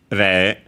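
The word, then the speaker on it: 零: Re is the Japanese pronunciation for zero.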